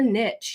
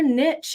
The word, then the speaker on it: niche: Now, this gets us into the often overwhelming and annoying, what's your niche? Your niche isn't, or niche, depending on your pronunciation, isn't specific enough.